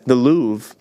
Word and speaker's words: Louvre: you hang in the Louvre. Yeah. Is that how it's pronounced? The Lou, I believe. Is it actually? It's Lou. spelt Louvre. Yeah, but I think it's like L-O-O.